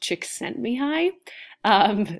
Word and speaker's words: Csikszentmihalyi: he's from Eastern Europe that last name is pronounced Csikszentmihalyi there will be no spelling test on that